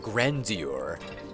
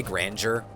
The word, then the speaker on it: grandeur: Why'd I just learn that that's how you pronounce grandeur? I say it a little bit like more fancy, grandeur, but you could say grandeur. People say that, but I like to actually say the E-U-R, grandeur.